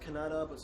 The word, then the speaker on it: Kannada: humpy ruins and how they speak Kannada or I'm told it's pronounced Kannada Christian gospel and today